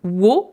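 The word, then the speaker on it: を: La particule wo, particule de COD, donc qui se prononce plutôt o.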